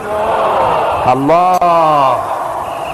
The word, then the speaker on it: আল্লাহ: এই জন্য দিল থেকে যখন আসে আল্লাহ, আল্লাহর নাম কি? আল্লাহ। আল্লাহ না, কিন্তু মুখটা গোল করে উচ্চারণ করতে হবে সুন্দর করে, আল্লাহ।